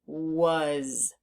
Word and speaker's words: was: A and the S the a is making the sound uh uh as if it were a u but it's not a u it's an A so we need to learn that part by heart and the Z or the S is making a z sound which we haven't learned about yet but sometimes the S does that so this is was was there are several parts